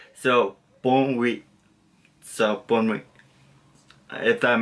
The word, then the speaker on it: bonne nuit: So you kind of want to continue it, like it's like a slide. So bon oui, so bon oui, if that makes sense.